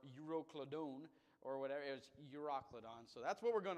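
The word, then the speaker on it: Euroclydon: Called uro Ladon and I looked up the pronunciation of this one quite often uh and everyone said it you was uroon not euroclidon or yadone or whatever it was uroon so that's what we're going to call it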